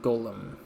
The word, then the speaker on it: GOLM: To his surprise, this ends up being pronounced like golem.